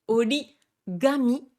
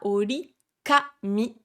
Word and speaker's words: origami: pourquoi certains mots japonais se prononcent différemment, notamment pourquoi est-ce qu'on dit origami et non pas orikami, alors que le papier, ça se dit bien kami, effectivement, avec un K et non pas avec un ga.